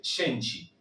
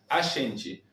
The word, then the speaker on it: a gente: La G nuestra en español se pronuncia como una Y o como una SH. Shen. La E final como una I y la T se va a transformar en una CH.